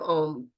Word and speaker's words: Om: So the meaning of Om, this is a multicultural perspective versus just one, like the Vedic practice.